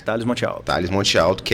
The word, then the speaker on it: Thalles Mont'Alto: Thales Monte Alto, é assim que pronuncia? Isso, exatamente, Thales Monte Alto.